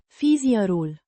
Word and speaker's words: fișierul: file, pronounced Fees-ee-er-ool. with the stress on the second syllable.